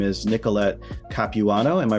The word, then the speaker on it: Capuano: Her name is Nicolette Capuano. Am I pronouncing your name correctly?